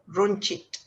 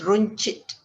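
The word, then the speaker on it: runcit: shop you say kadai runchit right runchit now again the c um has a ch sound so it's roon chit as in c-h-i-t-e grocery stop shop or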